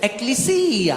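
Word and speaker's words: ἐκκλησία: Greek भाषा में इसका उच्चारण इस प्रकार होता है ; एक बार एक यूनानी भाई ने कहा, "नहीं, नहीं, नहीं भाई, इसे ऐसे नहीं बोलते, इसे एक्लेसिया बोलते हैं।"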